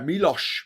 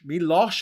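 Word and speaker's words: Miloš: Uh Milos Milos actually you want to put a H in there.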